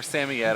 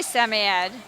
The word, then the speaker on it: Samoyed: and next is the samoyed or sammy yet i'm always torn about how to pronounce it so if someone out there wants to tell me i'll take it i say semi-ed but then i just also say sammy this is karida she's